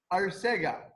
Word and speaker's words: Arcega: Arcega, yes. Yes. Yeah, we Adrian always have to check if we pronounce the names correctly.